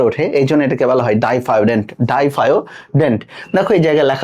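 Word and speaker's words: diphyodont: মানুষের দাত দুবার ওঠে এজন্য এটাকে বলা হয় ডাইফারডেন্ট ডাইফাডেন্ট দেখ এই জায়গায় লেখা রয়েছে ডিফারোডেন্ট এটা ডিফারোডেন্ট এটা উচ্চারণটা বই ওভাবে দেওয়া রয়েছে বাট এটার রাইট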